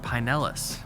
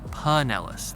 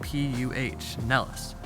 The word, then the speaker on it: Pinellas: They wanted me to pronounce it Pinellas. They actually spelled it out, P-U-H, Nellis.